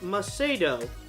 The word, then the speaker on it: Meetto: Uh for future reference, my name is pronounced Meedo.